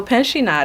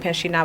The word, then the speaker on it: Pinchina: So Pinchina, originally it has a silent T that I dropped to help the non-French speaking population pronounce it better, because Pinchina would have just gotten under my skin.